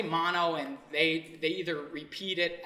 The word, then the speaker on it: Mano: Well, it's mono, but it's not spelled M-O-N-O. It's not like mononucleosis. No, it's mano, M-A-N-O. But in India, they pronounce A's as soft U's, so it's actually mono. But no one can really say mono in Canada, so they just pronounce it mono, and everyone calls me mono.